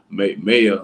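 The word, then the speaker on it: Maia: I know it's supposed to be pronounced Maya, like May hyphen I AH.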